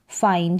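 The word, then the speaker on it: fine: फाइन क्या पढ़ेंगे फाइन जब लास्ट में ई आ रहा है तो यह जो आई है इसको आई करके ही पढ़ेंगे यानी आई के बाद में यह एन एक कंसोनेंट फिर ई आता है तो आई को आई पढ़ते हैं तो फाइन फाइन का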